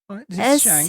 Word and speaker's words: Schenck: Did I pronounce that right? No, I think that's right. It's Schenck.